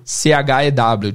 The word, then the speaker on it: chew: C-H-E-W, chew. Parece o número 2, mas o número 2 é to. E o mastigar é chew, tem mais ar saindo da boca.